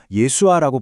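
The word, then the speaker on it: ישוע: 원래 히브리어 이름은 구약에 나오는 여호수아, 즉 예호슈아였어요. 이게 시간이 지나면서 좀 줄여서 예수아라고 불리게 됐고요. 당시에 널리 쓰이던 아람어 발음이 바로 예수에 아주 가까웠습니다. 재미있는 건 원 자료에 따르면 영어의 지저스보다 우리말 예수가 원음에 훨씬 더 가깝다고 하네요.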